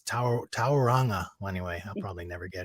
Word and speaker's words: Tauranga: it out loud because i was doing tauranga but it's tauranga anyway i'll probably never